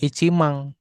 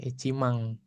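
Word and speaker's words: 一万: Nah, icimang ini kan bacanya kan tadi icimang gitu soalnya dibacanya dia icimang. He bukan iciman. Heeh. Iang gitu ya. Ichimang. Nah, jumang. Yakumang. Senmang. Nah, gitu ya. ada eng yang di belakang soalnya.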